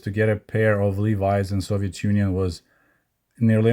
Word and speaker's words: Levi's: So most Soviet people were saying not Levi's, but Levi's. So of course, Levi's rhymes with Davis.